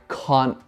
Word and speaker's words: can't: Esto existe en un montón de palabras, pero el can't se pronuncia diferente en los Estados Unidos y en Inglaterra.